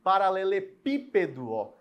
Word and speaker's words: paralelepípedo: tenho uma palavra grande paralelepípedo pipedo o PI é sílaba tônica e ela é anti-penúltima por isso que ela